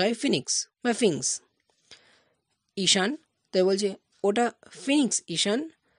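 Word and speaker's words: sphinx: আই এন এক্স এস এর উচ্চারণটা হয় না উচ্চারণটা হয় ফিনিক্স ফিংস ঈশান বলছে ওটা ফিনিক্স Ishan it's rock statue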